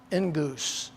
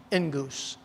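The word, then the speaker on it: ἐγγύς: Now, that phrase, and it's a phrase, at hand, I've given you the Greek word, but it's pronounced engus, just like goose, engus, all right?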